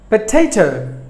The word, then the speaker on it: potato: syllables but the stress falls on the first syllable on yeah onion we're number seven potato potato potato but the stress falls on the